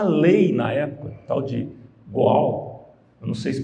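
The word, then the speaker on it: Goel: na época, tal de Goal, eu não sei se pronuncia assim, mas essa lei, como Gohel, aí tá vendo, professor aqui de hebraico, né? Gohel, escreve G-O-E-L, mas é G-A, apóstrofo, alguma coisa, se for lá mais na língua hebraica.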